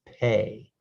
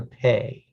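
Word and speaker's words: פא: dot in the center this is the p sound it's pronounced pay this is a pay this is a pay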